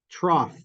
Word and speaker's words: trough: with bump what about trough yeah good good yeah exactly yeah you may not have realized but the GH in IPA I'd write it with an F yeah that's the fricative good what about thistle